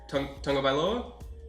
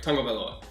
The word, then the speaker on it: Tagovailoa: Tagovailoa? Yes, I pronounced that right. Tagovailoa.